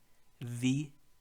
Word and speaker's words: wie: The W in German is pronounced as a V. Wie geht es dir?